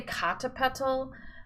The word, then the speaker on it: Popocatepetl: there and it is various pronunciations of Popocatepetl Popocatepetl there's some people say kata petal Popocatepetl some people say Popocatepetl